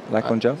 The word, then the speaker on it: Lachlan Giles: Lachlan Giles?